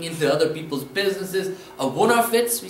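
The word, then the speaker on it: Vunnarfetz: or always looking into other people's businesses, a wonderfits, we say in Pennsylvania Dutch, wonderfits, let's spell that, V, U, N, N, A, R, F, E, T, Z.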